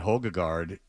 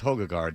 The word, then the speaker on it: Højgaard: I mean, Noren and Højgaard are big stars. Højgaard. Well, how do you pronounce that?